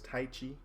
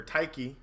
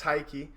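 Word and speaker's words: Tyche: today if you don't know cabin 19 is Tai Chi or taiki sorry uh it's just spelled smoke you've been smitted it's over yeah it's it's taiki and she is the goddess of champ yeah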